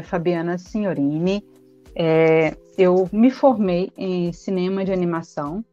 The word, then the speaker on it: Signorini: O Signorini, o G com a N, tem som de NH. Ah, legal. Signorini, italiano também.